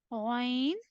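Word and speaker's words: غ: The next one, Ghain. The next letter is Ghain. The next letter is Kha. Ghain and Kha will originate from upper portion of your throat.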